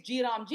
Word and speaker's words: Gram G: But don't change names and say it's G Ram G, it's Gram G. That's how the pronunciation is.